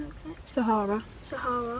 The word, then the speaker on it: Sahara: Rather spend a day in the Sarah? Am I pronouncing that okay? Sahara.